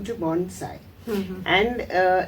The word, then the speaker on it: bonsai: changed the name to Bonsai and uh it is pronounced as a Sai and not a Zai many people make the